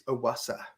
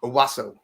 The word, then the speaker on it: Owasso: area Tulsa metro area I don't think it's awasa I think I said that completely wrong Owasso Owasso I think that's exactly how you say it okay so you